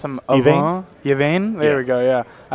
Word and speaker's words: Yvain: And Yvain is the correct pronunciation. Yvain, I was hearing people say Yvain, and I was like, no, that can't be right. Yeah. So wait, I did say it confirm again. It's Yvain. Yvain.